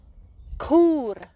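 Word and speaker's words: Chur: for saying okay because you have to say cool cool they don't say who like I do from Zurich they use a k instead very good you are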